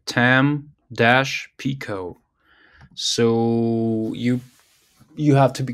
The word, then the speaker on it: Tampico: Okay, so he reads a Tampico or something. So this one worked for me. Okay, Tampico.